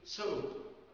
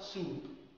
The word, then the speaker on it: soap: كلمة soap، soap يعني صابونة، أوكي؟ لو نطقناها soup معناها حساء أو شراب، شرب.